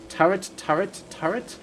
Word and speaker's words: turret: That T messes you up. Turret, you can say... It's basically a silent T at the end. You might as well just say turret.